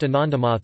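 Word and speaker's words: আনন্দমঠ: The song, Vand Mataram, which was written in 1876, was used in the book Anandamath in 1882, pronounced Anandamath in Bengali, and the 1952 movie based on the book.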